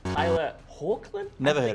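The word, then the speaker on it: Tyler Hoechlin: who his voice is it is Tyler hawkland is the pronunciation I wish him well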